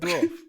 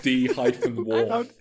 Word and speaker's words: dwarf: we used to discuss Red Dwarf in Red Dwarf. Calvin, doesn't he say that word weirdly? Red Dwarf. It's like D-Wharf.